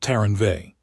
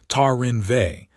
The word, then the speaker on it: Taranve: She repeated it, testing the syllables in the Varasi mouth. Tarinve. She made the R hard. She made the ve a single syllable, almost dropped. The way the Varasi would say it.